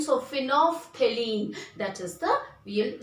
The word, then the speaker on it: phenolphthalein: L is silent, student. So L silent, so phenolphthalein, that is the, we'll spell like this.